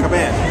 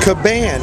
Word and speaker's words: Caban: Caban. Caban.